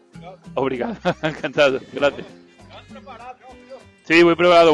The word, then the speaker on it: obrigado: ¿Cómo es? ¿Brigado o obrigado? ¿Cómo se dice? ¿Brigado o obrigado? Obrigado.